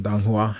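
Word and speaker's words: donghua: novel or the um dong Hua I believe is how it's pronounced um I put up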